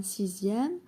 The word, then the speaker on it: sixième: La lettre X se prononce Z dans 18 et dans les mots dérivés de 2, 6, 10. Exemple, deuxième, deuxièmement ou bien sixième, sixièmement, etc.